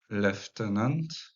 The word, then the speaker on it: lieutenant: dans les provinces l'anglais a gardé la vieille prononciation du vieux français dans leftenant he on écrit lieutenant mais on prononce leenant